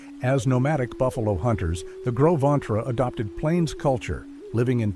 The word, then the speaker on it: Gros Ventre: The Gros Ventre, pronounced Gros Ventre, meaning big belly in French, were